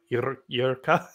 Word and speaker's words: Jirka: Jirka. That's Jirka. No, you did it great. Like Jirka and Honza, you're just exceeding my expectations tonight.